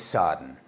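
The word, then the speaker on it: Srđan: is I begin Freddy my name is sarden pronounced ah pronounced something like surgeon I'm from Serbia and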